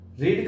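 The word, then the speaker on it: read: रीड का third form भी रीड ही होता है, लेकिन उसको जो प्रोनाउंसिएशन होता है वो बदल जाता है, इसको रेड पढ़ा जाता है।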